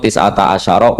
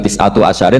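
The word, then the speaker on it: تسعة عشر: iku tetep atase neroko tisata asaro utawi 19 tetap bacanya bukan tisatu asyarin tapi tisata asar.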